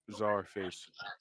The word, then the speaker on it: Czarface: yeah, my okay, that's how you pronounce it, Yeah. Scarface. Czarface.